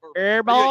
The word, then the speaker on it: herbal: Walmart herbal yeah herbal herbal you don't pronounce that HD herbal uh coming up on